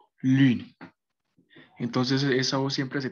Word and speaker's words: lune: Entonces, es como que, digamos, ustedes hagan una U, o sea, al momento también de decir una U normal, pero se pronuncia muy, o sea, cierran la boca más, ¿sí?